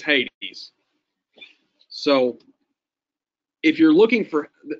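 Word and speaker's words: ᾅδης: A good example that comes up a lot is this word. Anyone know how you pronounce that? Hades? Hades, but yes, it's Hades.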